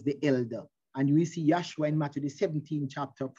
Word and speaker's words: Joshua: so you notice he was moses was consulting with yahushua or joshua which is the correct pronunciation joshua and he was moses